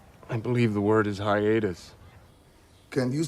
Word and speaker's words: hiatus: some other world this is not a Hiatus aratus come I believe the word is Hiatus can you spell that for me please h i a t